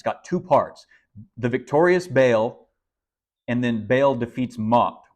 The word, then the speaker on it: Baal: Called Baal or or I'll just pronounce it bail here for Simplicity but but all is probably a little bit more uh accurate term so this is